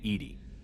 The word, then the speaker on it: EDI: Why are you named Edy? EDI is the phonetic pronunciation of EDI. That is an acronym for enhanced defense intelligence.